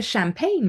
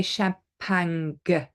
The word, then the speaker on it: champagne: is champagne from the Champagne region in France so we don't pronounce the G okay we don't say shampang actually that would be very French we say champagne okay foreign foreign we